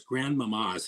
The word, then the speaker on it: Grandmama: she voices Ruby's grandmother Grand Mama she's a kraken two of course Grandmama's how she pronounces it Accent on the second but she plays the